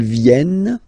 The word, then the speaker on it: viennent: Ils viennent, elles viennent. Ils viennent, elles viennent. Alright? E-N-T, you don't pronounce them.